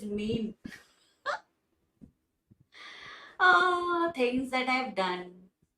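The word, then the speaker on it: mesne: after a long time i used to pronounce it as mess name but turns out it is not messing it is mean oh things that i've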